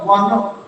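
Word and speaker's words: one: उच्चारण वा होता हो, जब अंग्रेजी के ओ अक्षर की ध्वनि का उच्चारण वा होता हो, वा, तो हमेशा ए का प्रयोग कर लेते हैं। शब्द तो वन, ये क्या शब्द है, वन।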